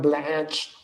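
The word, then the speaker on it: Blanche: The Department of Justice stance, Deputy AG Todd Blanch, that's how you say his name.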